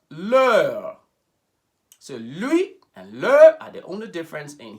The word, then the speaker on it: leur: direct we now have lear pronounced ler are the only difference